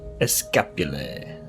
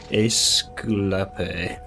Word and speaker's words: Esculape: Respectfully, Escapule. That is not how you pronounce it. Esculape.